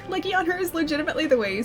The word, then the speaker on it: Legiana: Legiana, that's how you say it. Leiana is legitimately the way you say it.